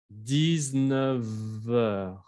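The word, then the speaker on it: dix-neuf heures: Et ça, c'est la liaison, hein, como con el 9 y el heure, como 19 heures.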